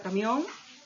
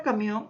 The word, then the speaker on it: camión: En la palabra camión, la mayor fuerza de voz está en la última sílaba.